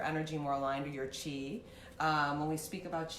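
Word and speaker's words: qi: you aligned your energy more aligned to your chi um when we speak about you we've talked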